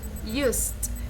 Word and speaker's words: used: no use it no used remember the e is not pronounced you pronounce just the t the the or the